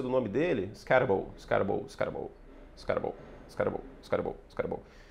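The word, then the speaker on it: Skattebo: Agora que eu aprendi a falar a pronúncia do nome dele. Scatable. Scarable.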